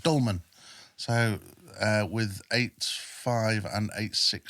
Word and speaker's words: Dülmen: No, I went to 6 Supply Regiment, based in Gütersloh, but I was in a place called Dülmen, as the Germans would pronounce it, Dülmen.